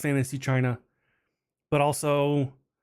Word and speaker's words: Qi: Like the chi chargers or even like Yeah. Like the wireless chi chargers, it's spelled ki or qi.